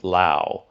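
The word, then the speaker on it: Laos: do you pronounce LA with the S or without the S and I was actually surprised that in technically LA with an s won the poll at 53% um rather than people saying Lao they grew up as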